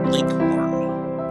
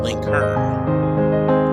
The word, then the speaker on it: Lincoln: in virginia and kentucky his name was commonly pronounced link horn and in indiana link heard the usage was so